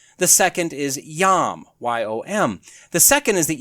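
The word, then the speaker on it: יוֹם: The first is Qes, Kates is how that's pronounced. The second is yom, Y-O-M.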